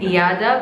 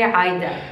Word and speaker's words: Ayeda: Her name, I've been saying Iyada, but it's actually Aida. Hi. Sorry, Aida. No, it's okay. So you guys have to meet Aida.